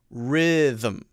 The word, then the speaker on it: rhythm: there is also the them rhythm rhythm rhythm so it's a two-syllable word them them them not them them them so you go directly from the th sound to the m sound okay so she's saying